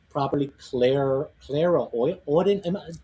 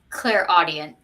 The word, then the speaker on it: clairaudient: Clara Audient. I butchered it. Tell me what it is. Yeah, clairaudient. Clairaudient.